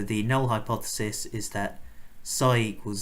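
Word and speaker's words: psi: null and alternative hypotheses this Greek letter here is pronounced sigh okay so the null hypothesis is that sy equals 0 and that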